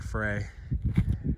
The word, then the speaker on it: Frey: I think it's pronounced Fry, even though it looks like Frey.